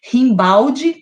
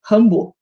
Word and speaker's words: Rimbaud: Depois ele fala do Rimbaud, que se escreve Rimbaldi, né? Que é um poeta francês, aí tem essa pronúncia, Rimbaud.